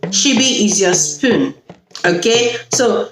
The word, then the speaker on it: ṣíbí: Now, the second S is pronounced sh, like I said. And S is for she-be. She-be is your spoon.